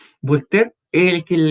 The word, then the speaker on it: Voltaire: Sí, lo que pasa es que este caballero, Voltaire, así se pronuncia, Voltaire es el que en la Ilustración está a cargo de la tolerancia religiosa.